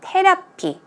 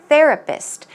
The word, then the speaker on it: therapist: pronounce the word correctly it's not ten up key not 10 up he it's th the the therapist and the P is more of a book sound okay let's try two